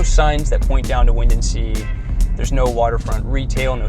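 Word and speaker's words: Windansea: windency in la jolla it's pronounced wind and sea but it's all one word wind and sea so this beach is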